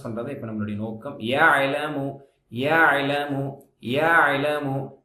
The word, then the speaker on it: يعلم: يعلم يعلم يعلم ஐன் கட் பண்ணக்கூடாது. يعلم என்று சொல்லக்கூடாது. يهلم அப்படின்னு சொல்லக்கூடாது. يعلم أعبد நஅபுது மாதிரி யஅலமு சாஃப்டா சொல்லணும். யஅலமு ரொம்ப அழுத்தி யஅலம் அப்படிலாம் சொல்லக்கூடாது.